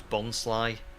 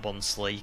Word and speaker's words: Bonsly: Um, Ariel says the one pronunciation you discovered was bonsly and not bonsley cuz it's like a bons bonsai tree. Yeah. Yeah. Yeah. It's a bonsai and it's a bit sly.